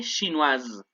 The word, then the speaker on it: chinoise: femenino sería, elle est chinoise. Acuérdense, como hay una S en medio de dos vocales, suena como Z, como el zumbido de abeja. Il est chinois, elle est chinoise.